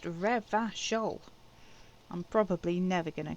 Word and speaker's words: Revachol: And yes, Revicol is pronounced Revachol.